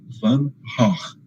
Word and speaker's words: van Gogh: de um sujeitinho chamado Vincent van Gogh, que é assim que se pronuncia o nome desse homem em holandês.